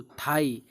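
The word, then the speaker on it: thigh: जैसे देखिए साई, दो, थाई। इन वर्ड के लास्ट में जी एच है लेकिन हम जी एच को पढ़ नहीं रहे हैं, इसको हम साइलेंट किए हुए हैं।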